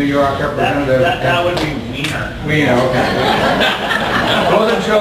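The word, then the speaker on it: Weiner: That would be Wiener. Wiener, okay. I wasn't sure about the politically correct pronunciation.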